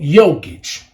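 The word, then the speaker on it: Jokić: Nikola Jokic. J, the Joker. But you don't pronounce the J in the Jokic.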